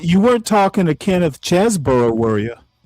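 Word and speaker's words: Chesebro: You weren't you weren't talking to Kenneth Chzboro, were you? Or Cheeseboro, however you pronounce his name. No, it's No, it's Cheeseboro.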